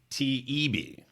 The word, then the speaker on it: Taibbi: Twitter files, not the Fauci files, but Matt Taibbi. Is that how you say his name? People keep correcting me. Taibbi.